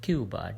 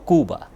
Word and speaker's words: Cuba: Is it Cuba or Cuba? In Spanish is Cuba. In Spanish, then is but English pronunciation is Cuba.